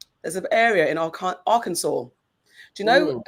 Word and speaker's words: Arkansas: I don't know how it's spelled. R Kansas. A R K A N S A S.